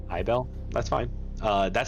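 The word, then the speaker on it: Aibell: the name a-i-b-e-l-l a-i-b-e-l-l able i i don't feel like able's right i would pronounce it but i bell that's fine uh that's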